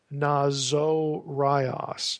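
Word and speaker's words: Ναζωραῖος: Now, catch the way I pronounce this. Nazo rias. Notice there's a long O there.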